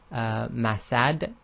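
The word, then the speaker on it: مسد: the dhamma tain, but if you stop, the last letter becomes sakin. So in the first one, if we stop, we'll say masad.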